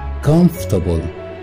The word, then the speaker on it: comfortable: Number 12 مرتاح comfortable, comfortable, comfortable, مش comfortable, comfortable. أما خضروات مش vegetables, vegetables, vegetables. comfortable هنتخلص من الأول R هنقولها comfortable, comfortable, comfortable.